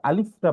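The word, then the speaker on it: ألف: অর্থাৎ আমরা যখন উচ্চারণ করব, সামনের উপরের দাঁত, এই দাঁতটা, নিচের ঠোঁটের পেট, আর যখন আমরা আলিফটা বলবো, বাতাসটা চালু থাকবে, আলিফ, আলিফ।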